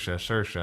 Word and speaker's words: Saoirse: Rhymes with inertia. Saoirse.